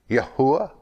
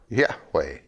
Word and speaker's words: Yahweh: When we look at the Hebrew word, it's Yod, He, Vav, He, Yahuwah or Yahweh. We give these two words only as common pronunciations.